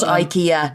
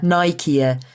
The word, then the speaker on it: Nicaea: Oh, not IKEA, Nicaea.